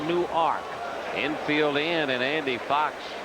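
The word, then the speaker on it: Newark: ark any W arkade like nework New Jersey except they pronounce it new ark infield in and Andy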